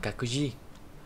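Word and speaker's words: 各自: Cái từ các này thì luôn đọc là kaku nhé.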